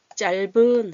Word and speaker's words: 짧은: 그래서 짧은 해서 이걸로 발음해야 되는데 자꾸 비읍으로 발음하세요.